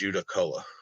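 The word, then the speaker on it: Judaculla: A lot of people have a hard time saying it, but the way I've always heard it pronounced is Judacola.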